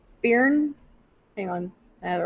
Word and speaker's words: Byrne: and It's just spelled with a Y, but it's Byrne.